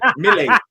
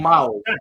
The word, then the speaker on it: Mile: Mille, not Miles. Mille. Oh, Mille.